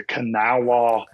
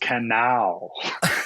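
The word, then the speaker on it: Kanawha: trying to reach the Canawa uh office here." And she's like, "Honey, it's pronounced Canal."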